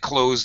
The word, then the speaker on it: clothes: right clothes or um native speakers often say clothes just like close the door we use a reduced pronunciation commonly so feel free because we all do it's too hard to say the th sound so we just say a z sound close Okay gone out